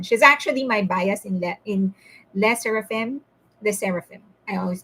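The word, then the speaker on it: LE SSERAFIM: She's actually my bias in Le Seraphim, the Seraphim. I always mispronounce it. Le Seraphim.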